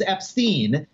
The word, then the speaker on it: Epstein: Epstein tell me about your band like he's not gonna start by saying well actually the correct way to pronounce my name is Epstein and while I'm at